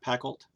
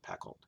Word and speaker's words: Pacult: I think I'm saying his name right, Pacult. I watched a couple of reviews, and that seems to be how people are pronouncing it, Pacult.